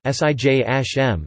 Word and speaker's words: Siyam: Arabic pronunciation: Swem) or Siyam (Siyam Arabic pronunciation: Sijm), the Arabic words for